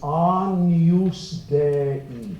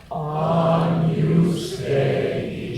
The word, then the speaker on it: Agnus Dei: Remember, the pronunciation is Agnus Dei. Say it. Agnus Dei.